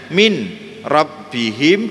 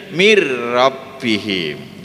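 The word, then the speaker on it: مِنْ رَبِّهِمْ: mie-nya baru yang disini Nun nya tidak terbaca masuk tidak disertai dengan mendengung aslinya Min rabbihim dibacanya mirrobbihim saya contohkan G ulek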